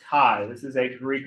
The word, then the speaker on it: chi: and this is pronounced this is spelled Chi but it's pronounced Kai this is a Greek